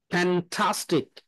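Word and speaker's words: fantastic: কি হচ্ছে ও উচ্চারণ হয় তো রোম্যান এ উচ্চারণ হবে এখানে হ্যাঁ তাহলে এই আগের সিলেবলটাকে কি হবে স্ট্রেজ হবে রোমান্টিক অর্গানিক ফ্যান্টাস্টিক দেখবেন কখনো আমাদের ফ্যান্টাস্টিক বলে না ফ্যান্টাস্টিক যখন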